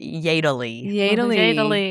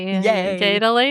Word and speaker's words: Jedele: My family pronounces it Jedele. Jedele. Jedele. But it does look like Jedele. Okay. Mm-hmm. A little yodeling.